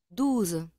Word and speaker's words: douze: Douze. Aquí también con la Z. Douze.